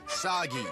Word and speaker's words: Sagi: Cliché burden boy of action who will save us all is named Sagi. Rhymes with Saki.